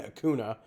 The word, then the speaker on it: Acuna: no any here so that's why I'm saying Akuna feel free to correct me in the comments if I'm totally off base here but Akuna is burning Glacier gains 25% life steal when